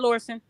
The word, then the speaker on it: Lison: okay like okay uh is it pronounced lison did I say it right yes yes thank God okay go ahead lison so I didn't know